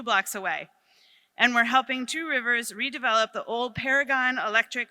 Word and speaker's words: Two Rivers: And Two Rivers. I know I'm supposed to say Trivers.